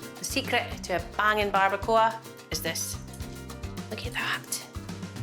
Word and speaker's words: barbacoa: How do you pronounce it? Barbacoa. Barbacoa.